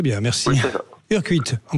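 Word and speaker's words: Urcuit: Urquit, on prononce comme ça ?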